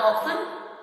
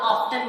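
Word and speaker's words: often: अच्छा, इसको हाउ ऑफन भी पढ़ते हैं और हाउ ऑफ्टन भी पढ़ते हैं। अब एक अमेरिकन इंग्लिश का वर्ड है, एक मतलब प्रोनाउंसिएशन है, और एक जो है वो ब्रिटिश इंग्लिश की प्रोनाउंसिएशन है।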